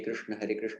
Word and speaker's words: Krishna: It's not, but for Hare Krishna, when you want to say Krishna phonetically correct, yeah, you need some more movement is involved, definitely.